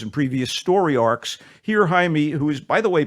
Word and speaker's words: Jaime: uh when young Jamie or Jaime Jaime Reyes we'll call him Jaime let's get the pronunciation proper here Jaime Reyes it looks like Jamie a Mexican-American teenager bonded